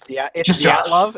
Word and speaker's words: Dyatlov: It's Dyatlov, and they mispronounced it for the entire episode, and it pissed me off.